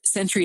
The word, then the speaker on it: SENTRI: If you are going to be driving down frequently, it would be of value to get a Century card. Century is spelled Sentri.